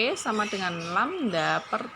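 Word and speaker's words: λ: Lambda itu simbol lambda itu. Coba bentar. Oke. Saya tunjukkan ya. Nah, ini itu adalah panjang gelombang. Itu bacanya lambda, bentuknya seperti ini. Nah, gitu cara menuliskan. Oke, paham ya? Itu lambda bacanya.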